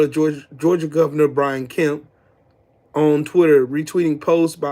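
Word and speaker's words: Kemp: get is Brian km and Greg Ducey Brian km let's see make sure I'm saying it right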